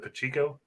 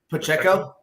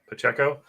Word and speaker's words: Pacheco: uh what's this is it how do you pronounce the running back on Kansas City is it pachico Pacheco Pacheco I have him to get more uh yards